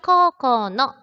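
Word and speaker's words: 高校の: 자, 코라는 단어를 잘 봐두셔야 되는데요. 코우라고 읽지 않습니다. 왜 그렇게 읽지 않을까요? 네, 오단 다음에 우가 왔을 경우에는 우리가 얘를 말을 할 때 장음으로 발음을 하시면 됩니다.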